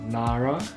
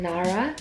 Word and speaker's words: Nara: Our daughter's name is NARA. N - A - R - A Nara Temuujin We also like for Mongolians to pronounce her name "Nah - Rah" NOT NaRRRa.